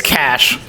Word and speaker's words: cache: yeah yep there's no that's not how you say that word it's cash you could say cache you could say it but you'd be wrong no that is actually